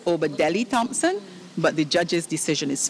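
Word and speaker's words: Obadele Thompson: So you didn't pronounce the name correctly. You were missing a part of it. And the answer is Obadeli Thompson, but the judge's decision is final.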